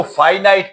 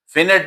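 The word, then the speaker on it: finite: अच्छा next type पे हम चलते हैं व्हिच इज अच्छा इसको फाइनाइट पढ़ना है। This this word is प्रोनाउ pronounce as फाइनाइट। फिनिट ना पढ़ना।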